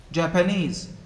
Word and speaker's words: Japanese: necessary which syllabus first japan japanese the third knees if you put the